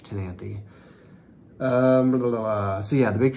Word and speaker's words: Ctenanthe: But the C is silent. It's Ctenanthe.